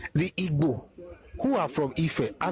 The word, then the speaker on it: Igbo: Baston, Among the Igbos of Nigeria, he said, and it's correct, that the closest way to actually spell the word as it is pronounced is I-B-W-O, is Igbo.